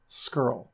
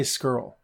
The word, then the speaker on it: Scurll: Skrull. I say Skrull. Right? I say Skrull. I think that's how you pronounce it. Seems how everybody else pronounces it.